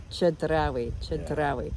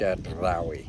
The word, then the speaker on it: Chedraui: It's more of a ch. You start with a ch. Chedraui. So there you go. That's how you say it. Chedraui.